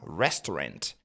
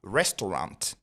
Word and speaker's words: restaurant: Ensuite on a restaurant. A N se pron et non en on dit pas restaurant mais plutôt restaurant. Mais si vous voulez prononcer avec un anglais américain et beaucoup plus naturel en contexte, vous allez même dire restaurant tout court.